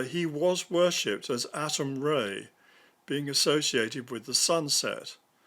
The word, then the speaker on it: Ra: walking stick even Ray sometimes spelled ra is pronounced Ray r a y in reality it really means